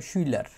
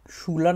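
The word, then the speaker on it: Schüler: যায় তাদেরকে বলা হয় সুইলার এবং ব্লাউড যেহেতু আছে এটা সুলার না বলে সুইলার বলবে এবং সুইলা ঋণ এটা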